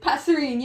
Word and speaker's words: Passerine: Wait, what is it pronounced? Passerine? Passerine, Yeah, we were reading a bit of Passerine.